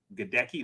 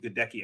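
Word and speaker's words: Goedeke: I think it's pronounced Gadecki, Luke Gadecki, who played left guard.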